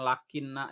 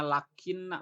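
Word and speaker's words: لكنّ: Nah, ingat kajian lakinna yang kemarin, karena ini hukman khosson di fathah, berarti ini cara bacanya lakinna, bukan lakin ya.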